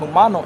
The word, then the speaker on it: Jumano: All right, that's the Jumano. Indians, man. Humano. It's pronounced Humano Indians, man.